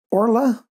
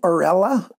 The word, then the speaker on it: Orla: do you say that orla i was trying to pronounce the e like all right i was saying aurella putting out a vowel between the r and the l that's wrong so i don't know